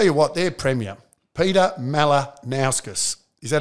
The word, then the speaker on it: Malinauskas: And I'll tell you what, their premier, Peter Malinauskas, Is that how you pronounce Very it? Very good pronunciation. Peter Malinauskas.